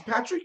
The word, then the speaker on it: Patry: don't know any other uh Jeff Patrick is Patrick correct it's Patrick yes it is thank you for pronouncing it correctly you did Jeff we appreciate